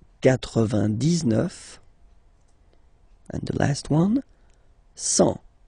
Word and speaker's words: cent: and the last one, 100. Remember, final T not pronounced. 100.